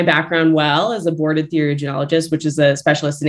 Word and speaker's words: theriogenologist: So I was just going to ask, how do you pronounce it? Theriogenologist? Sorry. Theriogenologist.